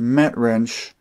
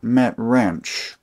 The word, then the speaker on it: Metrinch: This is a new old stock set of MetWrench sockets, and it's pronounced MetWrench, not MetWrench.